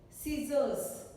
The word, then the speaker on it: scissors: Scissors, scissors. C is not spoken.